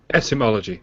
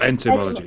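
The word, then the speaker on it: etymology: Ethmology, not enmology. That's enmology. Okay, but there's some enmology happening on this woman's or there's an etmology, not an entomology.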